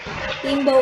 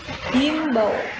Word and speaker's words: imbau: Imbau itu seringnya kita menggunakan H. Himbau, yang benar adalah imbau tanpa H.